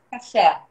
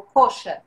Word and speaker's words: kosher: E aí, quem segue um restaurante, uma pessoa que segue todas essas regras alimentares, se chama kasher, ou kosher. Ou kasher ou kosher é a mesma coisa, depende da pronúncia.